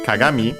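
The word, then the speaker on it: 鏡: Uh first and foremost we have Kagami. Uh which means mirror. Uh the accent I think on the last syllable. Yes, it is.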